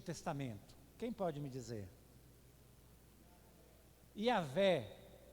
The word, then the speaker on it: Yahvé: Então quando vocês ouvem falar Jeová, no hebraico não tem uma pronúncia clara, mas o mais próximo é Yahvé.